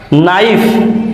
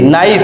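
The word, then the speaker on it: knife: এন ও সি খেই নখ that means টোকা নাইফ কে এন আই এফ ই নাইফ that means ছুরি নেক নেক means দক্ষতা night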